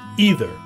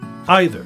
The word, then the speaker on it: either: most English Learners know the American use the uh e sound either and the Brits use the I sound either MH but really both Americans and British use both ways right it's become a